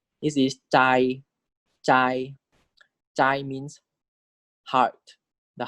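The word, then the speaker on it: ใจ: This is chai, chai.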